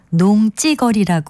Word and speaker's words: 농지거리: 가운데 어느 것이 맞을까요이 경우에는 쓸 때는 농지 거리라고 쓰고요 발음은 농찌거리 합니다 농찌거리 점잖치 아니하게 함부로